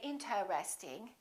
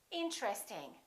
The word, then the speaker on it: interesting: Most people don't say interesting. They say interesting. Interesting. This TR are connected.